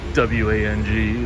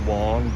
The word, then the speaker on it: Wang: This restaurant right here, Ravioli Wong, I believe W-A-N-G is actually pronounced Wong, but when I was a kid, we said Wang, and that was a slang word for a penis.